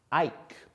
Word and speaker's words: ike: Ike. I-K-E, that E is silent to make I say its name.